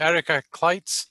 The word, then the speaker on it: Erica Clites: I'd like to introduce you to Erica Clites. Is that how to pronounce it, Erica? Yep, exactly. I wasn't sure.